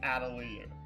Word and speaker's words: Atelier: No, the actual pronunciation is Atelier.